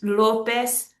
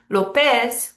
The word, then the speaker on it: López: So let's look at these names, López, Pérez, Hernández, Gutiérrez. Whenever they end in a Z, they're breaking the rule. López, Pérez, Hernández, Gutiérrez. We're stressing the second to last syllable.